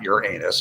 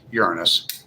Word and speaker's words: Uranus: That's how it's pronounced. Uranus. It's not Uran anus. It's Uranus.